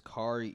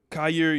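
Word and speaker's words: Kaiir: I think the cornerback's name is Kari Elam. Yeah, yeah. Yeah, him. Let me see the name pronunciation. Yeah, here you go, man. Kyer Elam.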